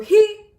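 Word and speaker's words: היא: Now the reason this is difficult is because the way that you pronounce she is he. So he equals hu, and she equals he.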